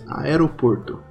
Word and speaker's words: aeroporto: Aeroport. Oh. Aeroporto? Kinda. Aero? You have to really pronounce the A. You have to say aeroporto.